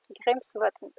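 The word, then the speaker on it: Grímsvötn: un volcan qui s'appelle guy ribes se prononce bien grimsvötn c'est ça qui est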